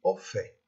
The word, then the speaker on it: au fait: هناخذ أول استخدام au fait. On doit prononcer le T final ici.